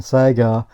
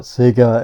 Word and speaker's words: Sega: that comes across and Sega then we realized that we've been pronouncing it wrong all those years but we still call it Seger and if that's what